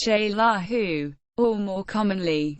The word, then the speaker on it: Xelajú: especially the indigenous population continue to call the city zaju pronounced shaa who or more commonly zela